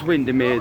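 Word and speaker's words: Windermere: It was Windermir that I've been saying I have been saying it right.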